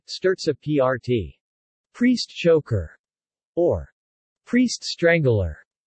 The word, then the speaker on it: Strozzapreti: Strozzapreti, Italian pronunciation, Sterza PRT.